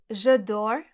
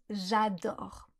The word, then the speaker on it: j'adore: L'exemple que je donne souvent, c'est celui des anglophones qui disent souvent « j'adore » au lieu de « j'adore ». Si vous prononcez mal le « a » dans « adore », on comprend « je dors ah ».